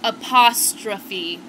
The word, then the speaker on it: apostrophe: with a Shakespeare book learn how to say the word it's apostrophe got it in all